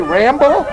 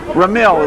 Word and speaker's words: Ramil: Did you say Rambo? No, I said Ramil. I wanted to say it right. Ramil is what it is.